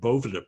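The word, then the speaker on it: Boveda: They invented these things called Bovida packs. And I'll show you one. This is a Bovida pack, okay? Bovida is spelled like that.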